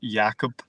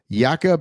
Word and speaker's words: Jakob: He's built like Jacob, but I'm sure it's pronounced Jakob.